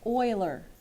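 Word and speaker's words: Euler: you say his name Oiler Oiler so if you want to put in parentheses like that then that might help you remember when you look at it to say Oiler his formula says if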